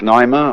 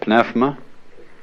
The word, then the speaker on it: pneuma: The Greek word, you may pronounce it pneuma or pneuma, is the same as spirit.